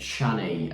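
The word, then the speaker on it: Chani: love interest of of Shanny I think uh I think we're pronouncing that correctly it almost sounds a bit like Johnny in the film um but uh yeah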